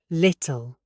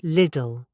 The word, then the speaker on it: little: Little. Not Lidl.